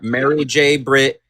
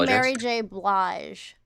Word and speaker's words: Mary J. Blige: It was Eminem, Kendrick Lamar, Mary J. Brit. Oh, her name is Mary J. Blige.